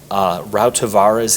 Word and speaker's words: Rautavaara: Rautavaara's In the Beginning. How do you pronounce?